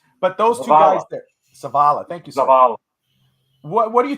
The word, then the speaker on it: Zavala: last season and a North Carolina State's Chandler Savala I know Evan will probably butcher me if he knew how to say the real name but those two guys there Zavala thank you what do you think of this